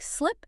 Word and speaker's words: slip: Take slip and sleep and sick and seek. The difference here is entirely about mouth tension and the duration of the vowel.